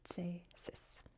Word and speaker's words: Cēsis: And then there's the main town of, I believe it's pronounced Cēsis. Very soft C, Cēsis.